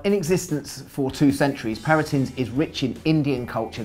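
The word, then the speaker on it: Parintins: First up, Paratins, as I'm reliably informed is pronounced. It is. Paratins, yeah. Paratins, indeed.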